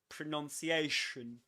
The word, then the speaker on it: pronunciation: It begins with a schwa, so that's why you nearly open your mouth. You barely open it. You say pronunciation.